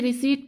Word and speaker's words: receipt: यहाँ पे P silent हो जाएगा, हम इसे रिसीट पढ़ेंगे, ठीक है।